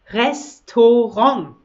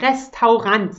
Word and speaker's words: Restaurant: ist ein deutscher regisseur das restaurant das restaurant also nicht restaurants nenne meine ein restaurant